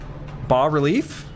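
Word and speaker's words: bas-relief: Bass relief is actually French. You don't pronounce the S. B relief. B relief.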